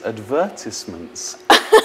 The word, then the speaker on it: advertisements: So these are very common mistakes in terms of the stress on the syllables in a word.